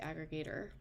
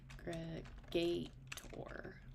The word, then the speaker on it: aggregator: I'm spelling them so I usually say aggregator right so aggregate tour like the animal gator maybe that's just my